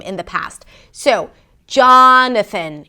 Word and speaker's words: Jonathan: So, Jonathan: it starts with a 'j' sound, that the 'aa' as in father - 'jaa'.